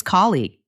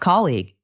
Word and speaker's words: colleague: The word for a person you work with, it's colleague. The stress is on the first part, not colleague.